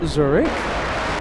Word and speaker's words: Zurich: Uh, I know I'm mispronouncing it, but here in America, it's Zurich, a Zurich edition of LA Flights in September, possibly.